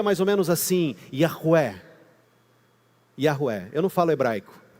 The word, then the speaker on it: Yahweh: Se pronuncia mais ou menos assim, Yahweh. Yahweh. Eu não falo hebraico. Um amigo meu falou assim: se você falasse hebraico, você ia ser impossível. Mas é Yahweh.